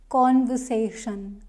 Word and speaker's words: conversation: and they say conversation no it's conversation conversation here third word is stressed third syllable is stressed and I like to